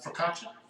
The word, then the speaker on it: Focaccia: Focaccia.